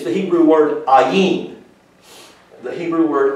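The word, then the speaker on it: עין: see that word i it's the hebrew word ayin the hebrew word ayin it's pronounced this way i'll just put it up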